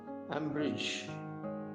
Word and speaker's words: umbrage: Ambridge, UMBRAGE, அதனுடைய உச்சரிப்பு Ambridge.